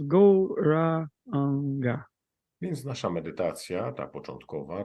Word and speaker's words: Gauranga: So our mantra for this opening meditation is the mantra Gauranga, divided into 4 syllables, Gauranga.